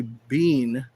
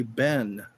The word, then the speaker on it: been: in Canada they say bean. Here they say ben. Like Gentle Ben. How have you been? Yeah. I wonder if that has to do with being French Canadian or or British. Cuz bean is how they say it in the UK.